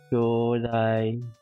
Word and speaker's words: 兄弟: What the problem is that the kyodai onkyodai.